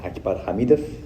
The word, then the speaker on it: Akbar Hamidov: You can say Akbar Hamidov. That's how it's pronounced.